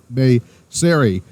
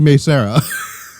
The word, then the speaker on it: Mei Seira: I kept saying it May Syuri. It's actually May Seira.